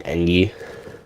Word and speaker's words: Engi: People like saying Engi, I like saying Engi. Because, Martin, so M-A-R-T-I-N, then E-N-G-I. So I pronounce it Martin the Engi, people like pronouncing him Martin the Engi.